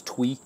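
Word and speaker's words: Thuy: to butcher this name it's t-h-u-y and if it's Vietnamese I think that's Twee uh I may I may be wrong about that but I think that's the pronunciation and for the for the Vietnamese name so I'm sorry if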